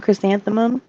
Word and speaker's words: Chrysanthemum: I'm Chrysanthemum. I am a mom. Who are you again? Oh, it's Chris and the mom. Chris and the mom. 4 syllables.